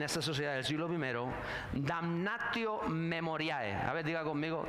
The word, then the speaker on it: damnatio memoriae: Hay un término latino para se llamaba en esa sociedad del siglo primero damnio memoriae. A ver, diga conmigo. Damnatio memoriae usted sabe latín, eh, pronuncia bien y todo.